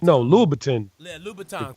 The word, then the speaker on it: Louboutin: article in the Washington Post from how you pronounce the red bottom guy named Louboutin? Whatever his Louis Vuitton. Yeah, Louboutin. No, Louboutin. Yeah, Louboutin. Christian Louboutin.